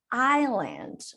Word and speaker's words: island: you don't know but when we are pronouncing the word Isla in in English we don't pronounce the S I know it's reading